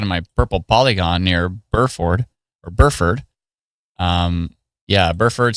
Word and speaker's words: Burford: Buford. How do you pronounce it, Marcos? Let me know. B U R F O R D.